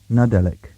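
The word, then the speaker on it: Nadelik: Cornish so here we go it's pronounced and it's spelled n-a-d-e-l-i-k nadelic meaning Christmas or Nativity lowen l-o-w-e-n meaning happy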